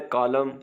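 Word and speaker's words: column: को उसके बाद है कॉलम इसमें एन साइलेंट है मस सल एस के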